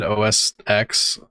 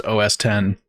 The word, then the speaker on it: OS X: about to happen macad OS X and it was they told everybody no it's pronounced OS 10 and everybody just said OSX all the time and then